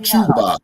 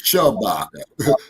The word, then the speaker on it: Shabaka: Okay, no, it's not Chewbacca. It's Shabaka. Chewbacca was in Star Wars.